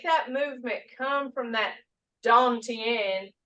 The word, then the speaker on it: Dantian: When you make that movement come from that Dantian, that's spelled Don, D-O-N, Tien, T-I-A-N.